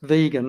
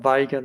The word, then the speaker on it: Vega: easy the other thing it's vegan not Vaga that's an American pronunciation I apologize it really